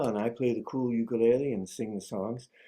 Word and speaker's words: ukulele: Hot steel refers to the steel guitar played Hawaiian style and I play the cool ukulele and sing the songs. In Hawaiian it really is pronounced ukulele.